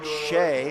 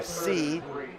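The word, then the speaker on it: Seay: And nice strong run by Blake Shea, or C. It's spelled S-E-A-Y, and in this neighborhood, you never know. Could just be C, Blake C.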